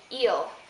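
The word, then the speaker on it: il: plural and L plural notice that these are pronounced the same eel eel l l um for eel it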